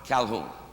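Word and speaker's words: Caljun: Calhoun. What is... C-A-L-J-U-N. C-A-L-J-U-N. Calhoun. That's right. J is silent.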